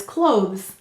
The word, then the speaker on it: clothes: Sound it out as you write it, and don't forget the silent final E. Great, help me to write it. The first syllable, or not the first syllable, the word is clothes.